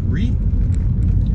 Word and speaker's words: Rea: re street or ria rea re to me to a is silent and i just say re we got philadelphia animal